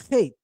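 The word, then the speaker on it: ח: I think he's making it clear that original One West teachers did in fact teach that the letter Kate is pronounced Kate, right?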